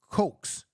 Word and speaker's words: Coes: that was happening uh Shane Coes let me say his name right Shane not Cooks Shane Co Co he had nine tackles and three solo tackles that's Coes C KES Cox Shane s h n